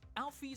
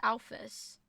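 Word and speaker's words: Alphys: Alfie creates Metaton and the robot source to Alfie. Pretty sure the correct way to say it is Alfus. I've never heard anyone say Alfus' name as Alfie.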